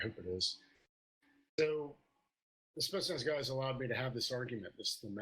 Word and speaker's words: Spetsnaz: The Spitsnaz, is that how you say it? Spetsnaz. Pretty close. Spetsnaz.